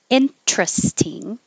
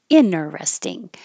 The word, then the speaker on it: interesting: interest but excuse me interesting or interesting or inner resting they're all options and you can pick